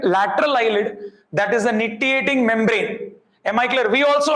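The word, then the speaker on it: nictitating membrane: Actually the C is silent. So nitiating membrane. We say some people say nictiating membrane.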